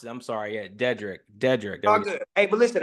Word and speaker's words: Dederick: name is it's pretty easy to say it's deadrick like yeah I keep forgetting to pronounce it I'm sorry yeah dedric dedric good hey but listen I've only been